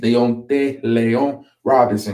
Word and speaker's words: Deonte Leon Robinson: So I wanted to go with how it's actually pronounced, which is Deonte Leon Robinson. That's how you actually pronounce that.